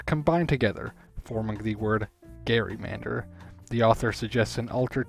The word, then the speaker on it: gerrymander: This backstory is also why I've been pronouncing it as gerrymander throughout this whole video, instead of the more common gerrymander. I don't think there is necessarily a right or wrong pronunciation. I think people get too worked up for stuff like that. But I plan to always say it as Gerrymander from now on in honor of the original monster that once bore its name.